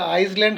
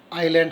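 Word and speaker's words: island: উচ্চারণটা আইসল্যান্ড হবে না, আইল্যান্ড হবে, কেমন?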